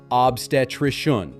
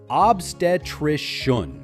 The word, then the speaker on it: obstetrician: The correct way is obstetric. Start with ob, follow with trish, and end softly with un together. Obstetric. Now let's practice it three times together. Ready? Obstetric.